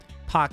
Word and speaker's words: Pak: Pronunciation of Simi Pak. So does anyone know how the hell you say the elevator girl's name? Pak, kind of like the sound like park, but the K is really quiet.